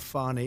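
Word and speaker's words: Fani: treated you very unfairly go by the name of fonnie even though it's F A ni I she wants to pronounce fonnie she's little little French little French accent and her lover and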